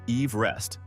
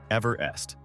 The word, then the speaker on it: Everest: He argued that the local people could not pronounce his very specific Welsh last name, which was actually pronounced Everest, not Everest.